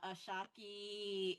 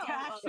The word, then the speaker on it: Akashic: Reiki Master and Ashaki, and I may be mispronouncing these as well. Akashic.